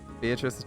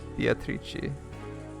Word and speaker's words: Beatrice: Beatrice's name is pronounced the Italian way. Beatrice. Beatrice.